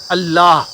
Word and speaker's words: अल्लाह: जब आप अल्लाह कहेंगे, अल्लाह, तो अंत में ह का उच्चारण आएगा और इंड कर जाएगा।